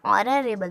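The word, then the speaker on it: honorable: Silent हो जाता है, ये एच जो है साइलेंट हो जाता है और बचता है ओ से हम पढ़ना स्टार्ट करते हैं, यानी ऑनरेबल।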